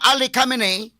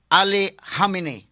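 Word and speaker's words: Khamenei: si Ayatula Ali Camine nagla-lain na pronunciation mga kaigalaan pronunciation sa mga magbabalita sa dito sa kinini ang mga televisions mahigala sa CNN sa BBC ang uban dayon nga ayatula Ali Camine ang uban mingon ayatula Ali Hamine sa tinodine hamine o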